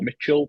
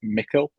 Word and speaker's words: Micil: Although it may look like some it'll be pronounced Micil or Mitchell, but it's Micil with a hard C, well, K.